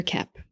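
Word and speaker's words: Koepp: Kep. And Kep is spelled K-O-E-P-P, like two peas in a pod.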